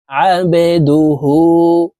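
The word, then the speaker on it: عبده: আন্না মুহাম্মাদান মুহাম্মাদান আবেদুহু বাকলার হরফ নিচের দিকে ধাবিত করে ধাক্কা দিয়ে উচ্চারণ করতে হবে দেখুন এভাবে পড়বো আবেদুহু ওয়া রাসুলুহ ওয়া রাসুলুহু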